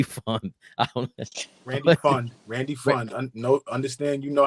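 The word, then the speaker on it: Pfund: Randy Fund. No, understand you know how to read the English language. It's Randy. It says Fund. P Fund. I'm sorry. Well, the P is silent.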